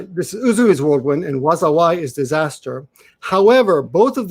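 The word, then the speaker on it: 禍: This is either pronounced wazawai, and means disaster, or it's pronounced ka or maga. All of those are that kanji can be pronounced either wazawai or ka or maga, and it means disaster.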